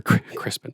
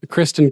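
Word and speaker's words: Criston: we mentioned before um when sir crispin shows up or crispin that's what he calls him kristen cole shows up and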